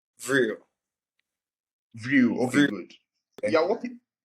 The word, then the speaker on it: Vrill: What's the correct pronunciation? Vrill, Vrill.